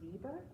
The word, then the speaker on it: Weber: to have to check if it was German that's probably pronounced Viber I I'm going to